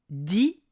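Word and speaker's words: dix: Le numéro 10 se prononce dit s'il est suivi d'un mot commençant par une consonne.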